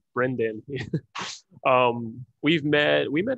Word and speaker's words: Brendan: good friend of mine on his name is Brandon Brendan is that how you pronounce it Brendan Brendan um we've met we met at the chronic